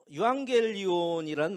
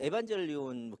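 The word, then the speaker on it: εὐαγγέλιον: 시간 은혜의 시간인 것 같습니다 다음 페이지에 보면 유한겔리온이란 말이 나와요 사실은 근데 그 이름의 뜻이 좋은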